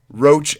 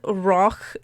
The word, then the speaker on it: Roch: okay here's the how to pronounce roach it's r-o-c-h roach as in the bug as in the verb okay his name is Rock feral roach I will say roach but just